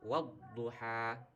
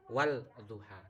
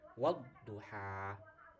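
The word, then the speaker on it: والضحى: Jadi membacanya wadduha ya, bukan wal duha tapi wadduha.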